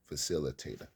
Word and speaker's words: facilitator: And the word I was stumbling upon is a facilitator. Facilitator. 5 syllables.